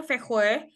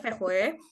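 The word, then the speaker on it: Växjö: Eh, ini tulisannya Faxjo tapi di belakangnya Fechue. Bahasa Swedanya Fechwe.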